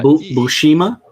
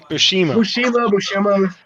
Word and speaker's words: Buscema: You know, that's a Buscema. That's Buscema, right? I don't know. You got the damn label right there. What's the label say? Yeah, John Buscema. Yeah. Bushima? Buscema.